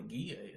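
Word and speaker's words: Ghia: You know what a Gia is?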